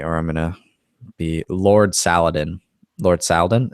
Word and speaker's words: Saladin: I'm gonna be Lord Saladin Lord Saladin it's salad in salad in wow that's a good